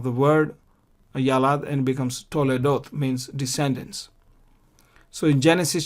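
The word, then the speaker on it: תולדות: This is Qamats, a long vowel. So therefore, and because it occurs before the schwa, where the letter, the letter under which the schwa is there, this is a long vowel, and therefore we vocalize the schwa. Hayata Toledot. Why? Because to is kolam wow, long vowel, and so we vocalize it.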